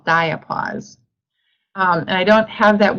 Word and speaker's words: diapause: going into a physiological state that we call diapause. And I don't have that word on this slide, but if you want me to spell it, it's D-I-A-P-A-U-S-E, diapause.